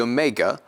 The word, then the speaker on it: omega: And then finally, the omega will be pronounced like the O in owner, owner, owner.